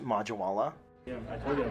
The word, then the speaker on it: Majwala: It's actually pronounced Majwala.